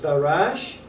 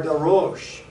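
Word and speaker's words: דרש: And the word is pronounced one of two ways, depending on where the vowel points are. It's either pronounced Darash or Darosh, depending again on how the vowel points are.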